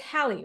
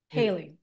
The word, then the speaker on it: Haley: wife uh is it it's hiy right I'm pronouncing her name right haly Haley okay Haley good try